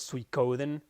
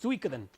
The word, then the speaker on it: Suikoden: many years, I used to think that the pronunciation was Suikoden. And even though in Spanish, every once in a while, I make the same mistake and pronounce it Suikoden. But nope, it's Suikoden.